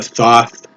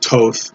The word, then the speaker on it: Thoth: also the difference between the thoth or depending upon how you say it toth both um um tarot